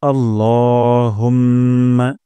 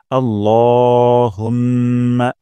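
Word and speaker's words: اللهم: করি প্রথম শব্দটি হলো আল্লাহুম্মা এখানে ল এক আলিফ টান দিব এবং লা বলা যাবে না আল্লাহ বলবো না আল্লাহুম্মা হে আল্লাহুম্মা হে আল্লাহ আপনারাও আমার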